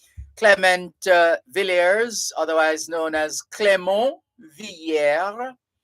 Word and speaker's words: Clément Villiers: If you're going with a French pronunciation, it would be Clément, Clement, pronounced Clément, and Villieres, Villiers. That would be French. It could be Spanish as well. No, if it were Spanish, it would be Villeres, but it's French, so it would be Villiers.